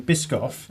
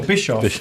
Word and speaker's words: Biscoff: I'm old enough to remember when Biscoff. Am I saying it right? You are now. I am. yeah. Yeah. What was I saying before? Bischoff.